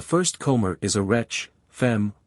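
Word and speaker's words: femme: comr is a wret fem woman rhymes with infame Infamous yes I have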